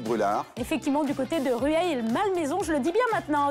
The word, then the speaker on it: Rueil-Malmaison: Effectivement, du côté de Rueil-Malmaison, je le dis bien maintenant.